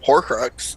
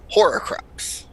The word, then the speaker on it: Horcrux: on that it's like it's horcrux and i always said horror craps maybe all she did